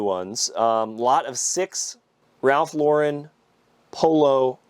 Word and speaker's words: Ralph Lauren: So, I've been corrected on this a hundred times, and I'm trying to pronounce it right. Polo Ralph Lauren.